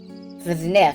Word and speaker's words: Zniw: concept art say news family her various faces ziff excuse me Z is how it looks like it's spelled so I'm having some trouble pronouncing it